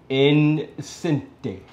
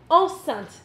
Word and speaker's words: enceinte: Incente. Incente? One more time. Encente. Enceinte. Enceinte. Oh, together, it's... The E is silent.